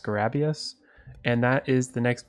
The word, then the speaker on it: Scarabeus: from the boss checklist i think it's pronounced scarabius and that is the